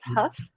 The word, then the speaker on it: Hough: I'm Huff everyone most people like to say my name incorrectly but it is Huff uh right now I'm